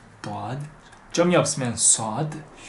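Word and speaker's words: ضاد: 도아드. 점이 없으면 소드. 점이 있는 건 이름이 도아드예요. 이 도아드는 도라고 읽어요.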